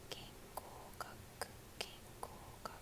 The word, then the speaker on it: 言語学: I'm trying to think of the kanji for 言語学言語学 Okay, it's kanji for E as in you, but it's pronounced like you to speak, to say.